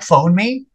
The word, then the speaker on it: phoneme: It's like phone me, but you stick the two words together, it becomes phoneme. Yeah, rhymes with meme.